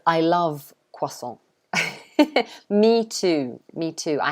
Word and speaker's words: croissant: most people would say so the beginning it would be kua and say queso like that croissant so the t is is normally silent anyway so we don't say the t at the end and the cr we usually say like that so you could say